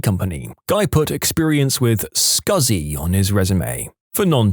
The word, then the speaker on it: SCSI: Guy put experience with scuzzy on his resume. For non techies, SCSI is a type of hard drive pronounced as he wrote it, but never in a million years written that way.